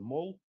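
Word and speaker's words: Mull: Это вот остров называется Мол, но пишется как Мол через Ю.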